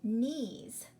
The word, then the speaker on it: knees: knees on your leg what letter do you not hear in the word knees you're right you do not hear the K the K is the silent consonant you only hear the knees okay how about the